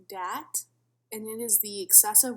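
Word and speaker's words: dhat: my cultural syndromes presentation my first syndrome is pronounced dat and it is the excessive worry or concern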